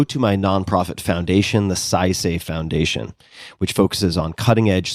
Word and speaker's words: Saisei: Punch Coffee, go to my nonprofit foundation, the SciSafe Foundation, which focuses on cutting-edge scientific research and other uncrowded bets.